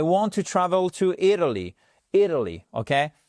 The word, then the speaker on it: Italy: Italy, ok? Travel, Italy. Accentuation sur la première syllabe à chaque fois.